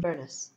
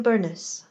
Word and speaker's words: Burnes: months and 22 days the family name in concordance is invariably spelled b-u-r-n-e-s unpronounced in the north of Scotland in two syllables many branches of the